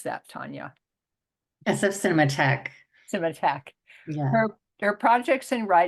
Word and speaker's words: Cinematheque: Arts, University of California, Berkeley, and for SF Cineograph. How do you pronounce that, Tanya? SF Cinematheque.